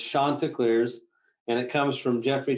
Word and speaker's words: Chanticleers: to do but i i used to say shanta clears but it's shontikliers and it comes from geoffrey chaucer of canterbury's